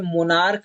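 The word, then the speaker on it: monarch: वैसे ही जो है यहाँ पे मोनार्क है, तो मोनार्क में जो है यहाँ पे इस सी एच का जो है उच्चारण हमारा क्या हो रहा है?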